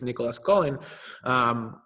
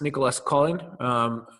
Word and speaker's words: Nicolas Colin: This French investor called, well, the sort of English pronunciation is Nicolas Collin, but he was saying it's Nicolas Collin.